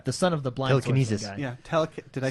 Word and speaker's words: telekinesis: The son of the blind Telekinesis.